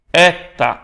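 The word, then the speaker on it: ἦτα: não é H tá ele tem som de E então Eta ou Eta também tem uma briga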